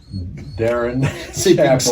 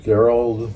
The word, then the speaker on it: Darin: Uh I invited our our guest uh Darren, correct? I will say uh I I've mispronounced his name now for four years. I've called him Daryl. What? Chapel. It's not Daryl.